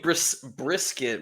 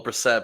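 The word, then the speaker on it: Brissett: Jacobe brisket. Well, Brassette, but my friend Jacobe Brassette.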